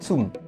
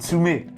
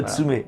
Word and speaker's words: Tsume: nom du fabricant alors c'est Tsum non c'est tsumet tum on prononce tsumet c'est du tsumet c'est